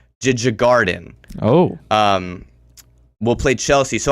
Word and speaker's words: Djurgården: There's a D and a J immediately after each other. Djurgården.